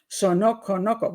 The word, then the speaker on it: Saunokonoko: Mark Saunokonoko.